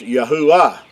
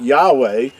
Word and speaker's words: Yahuwah: It's pronounced Yahuwah, and that's how his name. But the third letter in his name is pronounced with a oo sound, and that's another reason why his name is not Yahweh, because the W is